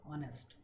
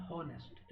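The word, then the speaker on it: honest: ईमानदार is call ऑनेस्ट, इट्स ऑनेस्ट, नॉट हॉनेस्ट, इट्स ऑनेस्ट। H is silent, ऑनेस्ट, ऑनेस्टियर, ऑनेस्टिएस्ट।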